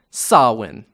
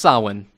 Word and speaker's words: Samhain: And all of this would be pulled all together into one big festival known as Samhain. Yes, it's pronounced Samhain.